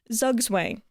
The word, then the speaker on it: Zugzwang: Zugzwang.